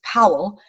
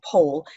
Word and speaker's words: Pohl: for william pohl uh an american would pronounce him as powell but over here they call him pole william pole the william